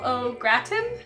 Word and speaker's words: au gratin: important meal yes they gave us their oval o gratin yes that's how you pronounce it um to make something really delicious